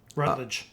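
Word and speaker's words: Rattler: Rattled. I think it's Rat. It's with an A. Is it tape? Rattled. It's with an A. Oh, you might be right. Not a U. Right. Rott and Rat.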